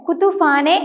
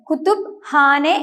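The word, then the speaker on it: kütüphane: ഈ വേർഡിൽ പി എന്ന ലെറ്ററും എച്ച് എന്ന ലെറ്ററും അടുത്ത് വരുമ്പോൾ ഇംഗ്ലീഷിലേതുപോലെ കുത്തുഫാനെ എന്ന് ഉച്ചരിക്കുകയില്ല, മറിച്ച് 2 ലെറ്റേഴ്സിനെയും വ്യത്യസ്തമായി ഉച്ചരിച്ചുകൊണ്ട് കുത്തുബ് ഹാനെ എന്നാണ് ഉച്ചരിക്കേണ്ടത്.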